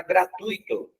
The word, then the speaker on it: gratuito: bastante, é a palavra gratuito. Gratuito não tem acento. Esse U e esse I não tendo acento, eu pronuncio ele junto, rapidinho. Gratuito.